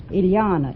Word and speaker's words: Ilana: is that right Ilana it rhymes with Manana okay are you related